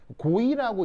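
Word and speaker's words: Gouy: 그래서 이제 프랑스 사람인데 고이라고 읽어요.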